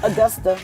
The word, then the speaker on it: Augusta: August I Augusta that's the proper way to pronounce it Augusta yeah I was born in Augusta Georgia James Brown Hometown but I was I